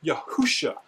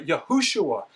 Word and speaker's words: Yehoshua: None of those imply Yehusha. They all imply Yehoshua.